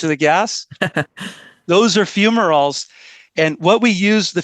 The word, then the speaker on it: fumaroles: it to, but you also use these volcanic fumaroles or fumaroles. So how's that pronounced? Oh, yes, no problem. So they're called fumaroles.